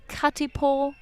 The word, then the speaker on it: Katipo: elongate that a sound someone once told me like with maori words you kind of you try and you rather than combine the vowels you try and pronounce them all exactly in any case it's